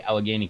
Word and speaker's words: Allegheny: Yeah, if you don't know, everybody, Allegheny County is the county that Pittsburgh's in. Which, if JT's watching, that hot sauce that he tried, it's pronounced Allegheny, not Allegheny.